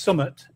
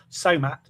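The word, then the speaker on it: summat: So it's actually pronounced Summit, but the way that it came out, it's now Somat.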